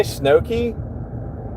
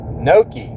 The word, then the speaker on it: Noki: Did you say Snowkey? Noki. Noki. Okay, that's how you say it.